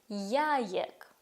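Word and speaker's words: jajek: І в польській завжди якщо складно вимовити, це означає, що треба щось додати. Яєк. Як. Німа як. Правда, стала легше це вимовити і почути.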